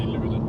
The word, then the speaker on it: Luleå: Most people don't say the O in the end. We just say Luleå.